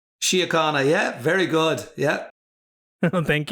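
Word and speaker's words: An Garda Síochána: And Garry was kind enough to help me understand that the actual pronunciation is Angarda Síochána. Síochána, yeah, very good, yeah.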